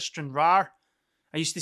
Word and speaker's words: Stranraer: Someone gave me into trouble for not pronouncing the R at the end of Stranraer.